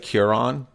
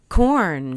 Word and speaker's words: Quorn: I think it's going to be said Curon, Quorn. Corn. Yeah, I was going to ask about those. I think it's pronounced corn.